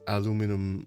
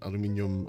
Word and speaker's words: aluminium: like even if it's aluminum aluminium or however you want to pronounce it in American English or English English um I'm not sure if